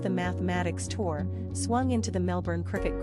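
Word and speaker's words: +–=÷× Tour: week when his equals divided by X Tour pronounced the mathematics tour swung into the Melbourne cricket ground the largest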